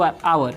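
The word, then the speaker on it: hour: वैसे ही यहाँ पे आता है कॉन्सोनेंट से शुरू वाला एच ओ यू आवर, इसको क्या पढ़ते हैं हम लोग, आवर। यहाँ पे एच जो होता है वो साइलेंट होता है।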